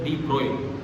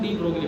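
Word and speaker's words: de Broglie: डी मोगली, ब्रोगली बहुत गलत pronunciation है। किसी भी किताब में पढ़ोगे, टेक्स्ट बुक एनसीईआरटी में पढ़ोगे, कहीं पढ़ोगे, जब भी ये नाम पहली बार आता है ब्रैकेट में लिखा रहता है प्रोनाउंस्ड एज डी ब्रोई। इसको क्यों डी ब्रोगली बोलते हो यार? आप ऐसे बोलोगे और आपसे छोटे भाई बहन ऐसे बोलेंगे, ये गलत चलता रहता है। ठीक है, डी ब्रोई, BROY बोलो तो सही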